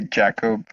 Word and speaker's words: Jakub: I say Jakub, Jacob, stuff like that. But I will do. Yeah, most people say Jakub. Okay. Here as well. Okay. Since it's the international pronunciation.